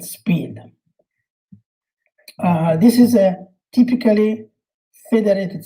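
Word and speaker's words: SPID: the other one is called sp id it's pronounced speed this is a typically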